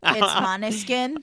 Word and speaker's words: Måneskin: Maneskin? It's Måneskin.